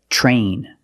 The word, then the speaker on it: train: CH sound is TR when you have TR together in any situation you can pronounce it ter but usually we don't we pronounce it plus the r sound sure example train truck tree and travel